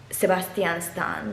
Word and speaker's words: Sebastian Stan: Apparently, it has a movie with Alexandra Daddario and Sebastian Stan, whose name is actually supposed to be pronounced Sebastian Stan because he's Romanian.